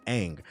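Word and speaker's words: Aang: Nobody stopped to pull the show up and see that his name is pronounced ang.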